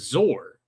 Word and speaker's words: Zoar: Regarding the bird's name, pretty sure it was supposed to be pronounced Zor to rhyme with soar, like what eagles do. In 1972, Mattel came out with a toy called Zor, the Mighty Eagle, which is another argument in favor of that pronunciation.